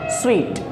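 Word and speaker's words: suite: लगता होगा सूट असल प्रनंसीएशन इसकी होती है स्वीट कभी भी इसका प्रनंसीएशन सूट नहीं होता बल्कि क्या होता है स्वीट अब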